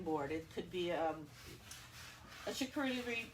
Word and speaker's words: charcuterie: It could be a charcuterie. I said it wrong. Ooh, charcuterie.